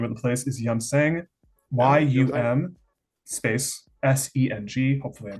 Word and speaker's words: Yumseng: Anyways, pretty much, like I mentioned, the name of the place is Yumseng, YUM space SENG. Hopefully, I'm pronouncing that correctly.